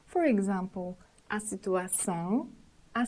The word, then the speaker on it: situação: Letter O situated at the end of termination on, são, should be said nasally with the whole termination. For example, a situação, a situação, a solução, a solução.